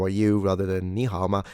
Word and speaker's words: 你好: The super famous 你好. Do pronounce the H, by the way. Don't make the beginner's mistake you get laughed after at.